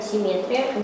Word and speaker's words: симметрия: Как же правильно произносится это слово? Произносится правильно симметрия. Симметрия.